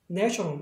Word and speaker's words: national: 그래서 얘도 네이가 아니라 이번엔 네가 되는 거예요. national 이렇게 되겠죠.